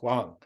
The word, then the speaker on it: Wang: your your name again it's spelled w-a-n-g for those who don't know it it's pronounced Juan and I sometimes do blow that anyway so I